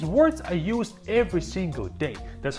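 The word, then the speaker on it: да: The next word is da da. And it means yes. When you agree with someone, da. And again, this first letter here is duh. It looks like a house, but it's pronounced as duh.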